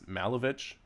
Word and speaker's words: Malovich: If you want to know how my last name is said, it's Malovich, which is the same as Malkovich. Just subtract the K from your pronunciation.